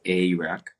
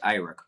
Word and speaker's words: Airak: Well, personally, as the creator, I pronounce my name as Airak, but Airak passes because Airak. it's the closest you can come to where I am. So Airak, it passes.